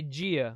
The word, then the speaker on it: dia: You guys say dia, we say gia, Yeah, like bon dia exactly.